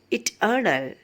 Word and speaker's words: eternal: Amphibrachtic meter, stress on the middle syllable. Example, eternal.